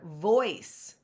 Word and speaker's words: voice: all and we have to learn that the o i says oi so we had to learn all of that in order for us to understand or read the word voice so that you can